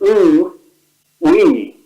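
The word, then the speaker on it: oui: So it's ooh, we, yeah? You can't say we without saying ooh first.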